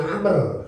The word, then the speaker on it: Amr: Jadi kalau Amr pakai wau. Iya. Kalau ternyata tidak berwau dibacanya Umar. Umar ya. Hubor-humor di kalangan siapa? Santri. Doraba Zaidun Amron. Telah mukul Zaid kepada Ki Amr. Kenapa dipukulin? Maling wau. Umar itu ada. Yang jelas kita ingat kalau berwau Amr, kalau tidak berwau Umar.